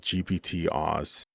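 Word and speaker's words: gpt-oss: The model is called GPT-Oz, GPT then Oz. It rhymes with boss.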